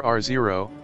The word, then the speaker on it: R0: by its reproductive number ro pronounced R naught or r0 which represents the average